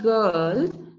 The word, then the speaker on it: girl: And the other word, like the word girl, this has a silent R.